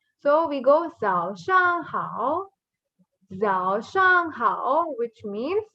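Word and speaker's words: 早上好: How? How we already read here. No, ni hao, the same pronunciation. Ditto. So we say Zhao Shang Hao.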